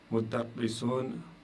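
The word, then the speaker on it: مدرسٌ: S'il y a deux dhamma, ça vous donne le son un. Il indique le cas nominatif indéfini. Et j'ai pris un exemple ici. Mudarrisun, mudarrisun. Vous avez dhammatan ici. Dhammatan, donc le tanwin ici. Dhammatan, qui signifie un enseignant.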